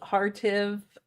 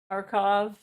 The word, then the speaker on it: Kharkiv: He called Kharkiv. It's Russian pronunciation would be Kharkov.